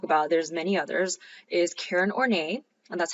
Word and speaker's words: Karen Horney: Is Karen Horney and that's how you have to say her name because she would not like it if you mispronounced her name.